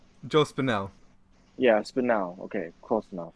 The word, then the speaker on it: Spinell: So one of them I have is Maniac with Joel Spinelli, right? Is that how you say his name? Joe Spinell.